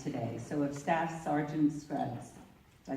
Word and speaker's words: Scruggs: So if Staff Sergeant Scruggs, did I say your name right? He said it rhymes with bugs, so Scruggs.